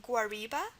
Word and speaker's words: guariba: Example is guariba, G-U-A-R-I-B-A, guariba.